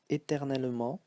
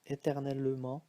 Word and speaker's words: éternellement: Here, to come back to this word, éternellement, so you see that here it's pronounced as a schwa, so E. It can also be left out. Sometimes when we speak fast, we say éternellement, so we don't hear this E, it becomes silent.